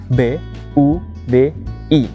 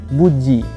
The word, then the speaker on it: Budi: B-U-D-I. Meskipun kadang diucapkan bukan seperti Budi, tapi seperti Buji. Tapi itu hanyalah masalah lidah orang Rusia.